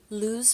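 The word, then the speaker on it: Luxe: what is it called lose Penn lose Penn it's like Lu XE like luxury lose that's not how you pronounce that anyways it's a felt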